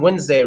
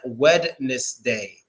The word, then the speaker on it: Wednesday: Wednesday I always spelled Wednesday wrong because we say Wednesday but it's like wedness day but I always spelled